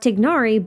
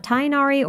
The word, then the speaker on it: Tighnari: You probably noticed that in almost every language, it's not pronounced Tignari, but some variation of Tainari or Tinari. If you're wondering which version is technically correct, well, the short answer is Tignari, but with an Arabic sound that I cannot make.